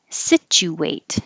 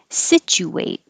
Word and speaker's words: situate: joe cuppa cup situate this can be the u in the middle can be a perfectly ooh with your lips rounded to situate or it's not stressed so the oo relaxes to an uh and you don't have to round your lips situate and if it was